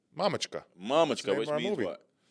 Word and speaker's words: Mamochka: Say it with the correct pronunciation. Mamochka. No, that's how you say it? Mamochka.